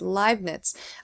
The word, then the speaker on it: Leibniz: I always had trouble pronouncing it, but it's Leibniz.